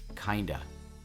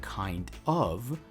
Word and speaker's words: kinda: Instead of saying kind of, we're pronouncing it as kinda, kinda.